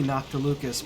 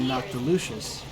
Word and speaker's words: Noctilucous: Yeah, I think I have been pronouncing it wrong. It would be Noctilucus because there's no I in there. For it to have been Noctilucius.